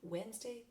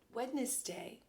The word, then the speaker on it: Wednesday: See the letters? W-E-D, wed, N-E-S, ness, D-A-Y, day. Most people say Wednesday, but really the N is on the other side of the D, so it's Wednesday.